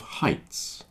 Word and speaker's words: height: have a fear of heights that word is pronounced height if you dislike something the word is hate I hate spiders for example height hate and while we're doing